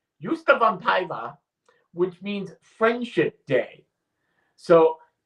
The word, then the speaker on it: ystävänpäivä: They have a pronunciation guide. Ystävänpäivä. Ystävänpäivä, which means Friendship Day.